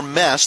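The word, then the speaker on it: Meese: the starting lineup connor mess that's m-e-e-s-e but it is pronounced mess according to head coach dave marshall he's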